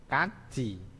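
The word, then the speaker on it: 같이: Ini kat-i. Kat-i. Ya, kat-i. Bacanya kaji.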